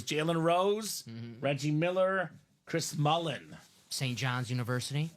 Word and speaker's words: Mullin: Dominique Wilkins and actually is Chris Mullen not Mullins I don't know who put the S on there but Chris Mullen so